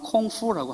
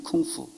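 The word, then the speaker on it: 功夫: 같은 한자 문화권에서 와서 그 공부를 중국말로 그대로 발음을 하면 콩푸라고 합니다. 그게 쿵푸입니다. 쿵푸.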